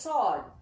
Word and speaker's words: sword: Though W is there, W is silent. It should be pronounced as sword.